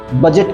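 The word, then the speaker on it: budget: शब्द है बजट बजट की स्पेलिंग में डी को ध्यान देना होगा जो कि यहां silent next word capital gain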